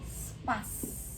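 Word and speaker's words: Spaß: Terus ini spas, ini walaupun etc, kalau misalkan dia jadi satu kata itu bukan jadi spa etc, tapi jadinya satu kalimat jadi ss, jadinya spas. Ini cara bacanya spas gitu.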